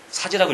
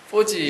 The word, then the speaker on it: 4G: 새로운 열풍을 해서 이제 이걸 사이라고 읽으면 안 되죠 포지 예 포즈라고 읽어 있죠 예 포즈에 대해서 최근에